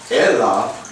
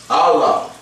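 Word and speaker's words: אלה: Aleph, Lamed, Hey, which correctly pronounced is not Elah, but Allah. Similar to what your Arabic peoples or Arabic speaking people use to refer to the Creator.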